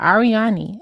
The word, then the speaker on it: Ariadne: Ariadne. So the D is silent. Ariadne.